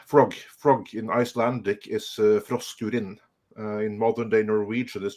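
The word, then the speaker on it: Froskurinn: But since Hypergiver 2 got us started on Froskurin, that's, by the way, how you pronounce it. Because for some reason, this woman decided that she wanted to learn Icelandic. And she calls herself Froskurin, which is Icelandic for frog.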